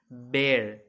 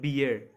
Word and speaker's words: bear: and one more thing it is pronounced as bear not beer beer is a drink